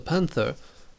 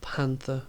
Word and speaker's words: panther: you see it's a panther again it looks complicated but with simple we have the accent at the beginning so we pronounce the first part of the word we stress the first